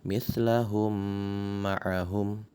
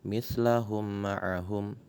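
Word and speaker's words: مِثْلَهُمْ مَعَهُمْ: Cara bacanya pun sama, yaitu dibaca atau ditasydidkan dengan samar-samar dengan panjang dua harokat. Saya ulangi lagi, mislahum ma'ahum. Jangan sekedar mislahum ma'ahum secara simple atau secara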